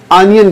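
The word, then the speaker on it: onion: इसको ऑनियन नहीं my dear student, इसको हम ऑनियन कहना है। हालांकि वर्ड ओ से स्टार्ट होता है लेकिन हमारा प्रोनाउंसिएशन ए से लेना है, ऑनियन, ऑनियन।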